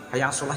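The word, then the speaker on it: حي على الصلاة: Ketika pengucapan lafal hayya 'alas shalah, kadang seorang muadzin pengucapannya mulutnya tidak membukanya, kadang buka kadang mingkem, kadang buka kadang mingkem, kadang buka kadang mingkem. Harus lepas, harus dibuka.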